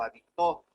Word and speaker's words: habitó: La función distintiva es aquella que el acento puede recaer en la primera, segunda o tercera o cuarta sílaba. Tenemos palabras con funciones y significados distintos. Por ejemplo, hábito, habito o habitó. ¿Ya? La función del acento en este caso es distinguir una de otras palabras.